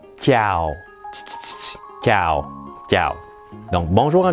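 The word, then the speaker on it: chào: ça s'écrit comme ceux ci et ça se prononce ciao ciao ciao donc bonjour un vietnamien cas il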